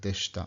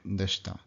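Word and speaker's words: でした: This is almost always dropped completely, so it sounds like deshita, deshita.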